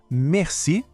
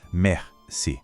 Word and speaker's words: merci: O detalhe da pronúncia é, de novo, o R. Lembra? Aquele som que vem da garganta. Merci.